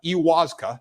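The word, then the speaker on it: ayahuasca: on a peruvian retreat and taken psychedelics iuwaska iwaska that's how you pronounce it it's defined as a psychoactive beverage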